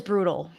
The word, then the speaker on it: brutal: Deception is brutal. I'm not pretending otherwise. Deception, primary stress is on se, not this one. Deception is brutal. In American English, this is a flap T and a dark L.